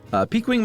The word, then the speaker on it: piquing: And then later on, I told Emily, I was like, I mispronounced peaking. Peaking, and Josh totally called me on it, but I tricked him. Piquing my interest in a variety of random topics